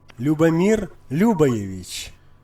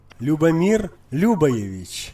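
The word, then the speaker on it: Ljubomir Ljubojević: Yeah, you don't pronounce the, although it's LJ, you don't, that's silent. So it's like Любомир Любоевич. you see that silent G JU. You see it's silent in both cases.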